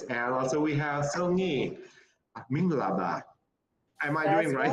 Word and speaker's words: Mingalaba: And also we have Songi Minglaba.